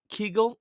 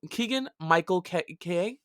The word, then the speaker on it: Keegan: curious just wait for that so we got kegel keegan excuse me i'm sorry i'm saying it wrong